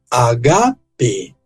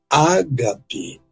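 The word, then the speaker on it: ἀγάπη: pronúncia correta porque a o acento tônico dessa palavra recai na penúltima não na antepenúltima sílaba porque a palavra termina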